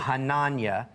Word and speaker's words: Hananiah: Now you know how to pronounce it. Hananiah.